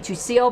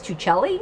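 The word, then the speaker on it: Tuccille: I kept saying Tucile, but somebody told me it was Tucelli, I think.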